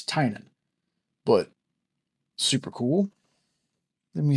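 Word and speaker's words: Tynion: It's Tinan. I've heard Tinian, Tanion, Tiny Onion.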